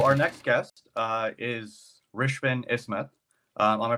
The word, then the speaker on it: Rishvin Ismath: and Thrive so our next guest uh is Richmond isma am I pronouncing that right oh perfect I use mute